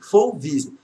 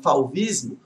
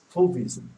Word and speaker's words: fauvismo: Ah, gente, em relação à pronúncia, é fauve, fauvismo. Apesar que algumas pessoas falam fauvismo, eu vou falar assim o que eu aprendi nas pronúncias na UNB. Então, fauvismo. Tá?